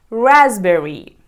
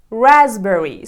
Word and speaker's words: raspberry: word number four is raspberry raspberry so be careful with the letter P because it is completely silent ready for the next